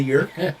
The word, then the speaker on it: yurt: can stay in a yurt. Oh, yeah. I said anything that rhymes with hurt. Yeah. A It's yurt. not for me. And what's on the menu tonight? Fresh yak in the yurt?